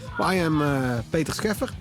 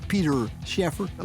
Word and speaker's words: Peter Scheffer: I am Peter Scheffer. That's my Dutch name. You can pronounce it in the English way if you want to, Peter Scheffer. And I'm 43 years old.